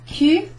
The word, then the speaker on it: cul: So Q is pronounced in the same way as the letter Q.